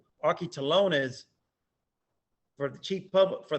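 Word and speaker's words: ἀρχιτελώνης: tax collector the original greek word which is pronounced aki talones for the chief public for the chief publican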